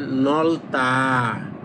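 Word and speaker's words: 넓다: তারপর দেখেন নলতা। নলতা। এই দেখেন এইভাবে উচ্চারণ করবেন। নলতা। কিন্তু এটা লিখা থাকবে এভাবে।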